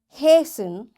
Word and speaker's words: hasten: Fasten, castle or castle, often, whistle, soften, hasten, bustle, and gourmet. There are different words, but in all these words, T is silent.